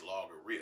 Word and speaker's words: logorrhea: It's logorrhea. It's called logorrhea. Look it up. Logghrea. Rhea, like diarrhea.